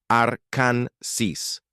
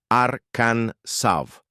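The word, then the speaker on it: Arkansas: Algunos insistían en la pronunciación francesa Arkan Saf, mientras que otros preferían la versión americanizada Arkan Sis. Para resolver el asunto, los legisladores eligieron oficialmente Arkan Sav, alineándose con la influencia francesa original, pero añadiendo un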